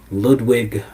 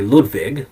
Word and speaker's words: Ludvig: And, uh, tomorrow's episode, tomorrow night's episode is going to be on Ludwig Berger. Yeah. Uh, sorry, Ludvig. Ludvig Boyer. Pronounced that wrong.